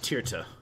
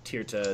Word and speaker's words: Tirta: there it is uh his name is uh tirta is this guy's name that you need to meet up with how'd you spell that i'll drop it in chat for you